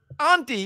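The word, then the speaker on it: Auntie Anne's: name it's Auntie ANS I say auntie too Auntie if you're talking about your aunt but not if you're talking about Auntie ANS that's not the name it's spelled the same way it's Auntie I understand that but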